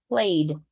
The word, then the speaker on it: played: go to the D played played played ignore the E go to the D played played plate got